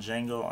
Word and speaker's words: Django: a movie review on D Jango unchain and yes the D is silent I keep saying the